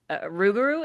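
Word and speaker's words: Rougarou: Ruguru, is that how you say it?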